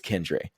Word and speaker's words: Keandre: talk about Keandre Miller I'm like Josh it's kendre so okay no seriously